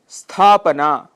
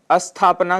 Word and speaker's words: स्थापना: स्थापना, स्थापना शुद्ध उच्चारण है, जबकि अशुद्ध उच्चारण हम अस्थापना कर देते हैं, जिसका अर्थ विपरीत है, जिस अर्थात स्थापना न होना, स्टेबल न होना, एस्टैब्लिश न होना।